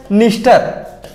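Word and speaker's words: Dniester: इसके जस्ट इधर है नीस्टर, नीस्टर इंग्लिश में देखिएगा लिख के, नीस्टर की स्पेलिंग है डी से शुरू होती है, डी साइलेंट है, पर हम याद करेंगे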